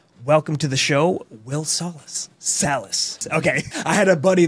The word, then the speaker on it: Salas: Yeah, if you want the ethnic actual pronunciation, it's Salas. Yeah, it's South American, but it's been Americanized as Salas, and I just rolled with it.